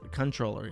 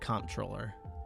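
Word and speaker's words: comptroller: troller for 1776 says I think it's controller I don't think you actually pronounce it com troller animal controller for 1776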